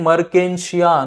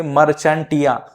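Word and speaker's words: Marchantia: Next है मरकेंशिया। नहीं तो बोलेंगे मर्चेंटिया। तो ये ना मर्चेंटिया है ना मरजावा है। यह है मरकेंशिया। प्रॉपर हमको प्रोनाउंसिएशन करना है।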